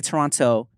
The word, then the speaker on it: Toronto: time ago from the Toronto homies not to pronounce the second T because then they'll know yeah you're not from there so you don't say Toronto you say Toronto yeah but I want